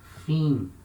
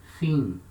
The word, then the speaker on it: fim: Letra I can also have a nasal sound before letters M and N when they are the same syllable. For example, fim, it means end. Fim. So letter I, the letra I, before letter M, it has a nasal sound.